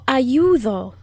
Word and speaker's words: ayudo: conjugate the word yo ayudo and that d is also the soft d it's not the hard d as in dog it's the soft d that blows air out ayudo yo ayudo i